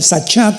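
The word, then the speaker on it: שחת: Esta palabra corromper es la palabra hebrea sachat con s de Samuel y ch. Sahat. Sahat se pronuncia, que significa corrupción moral.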